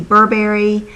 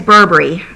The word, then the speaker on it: Burberry: try it is the Burberry she says Burberry and I know that I'm Southern so I am going to emphasize the first syllable so I say Burberry but I'm not I